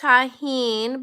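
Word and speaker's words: Tajín: It's pronounced Tajin, but it's like a spice you put on fruit.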